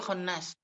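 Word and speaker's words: خنّاس: Jadi bacanya fa'al ya. Sama dengan bacaan fa', Ghaffar, Tawwab, La'an, Khatta ya. Jadi khonnas.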